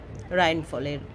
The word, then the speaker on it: Rheinfall: আমরা চলেছি কোথায় রাইনফল আমাদের ইংরেজিতে রাইনফলস। আজ আমরা চলেছি রাইনফলস দেখতে। জার্মান ভাষায় রাইনফল।